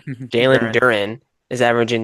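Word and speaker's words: Duren: Jaylen Duro. Why am I saying his last name wrong? Jaylen Duran is averaging like 23 points and like 12 rebounds a game.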